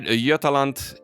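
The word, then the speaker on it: Jämtland: so the state of i always mispronounce this but i'm going to say yetalant in sweden so we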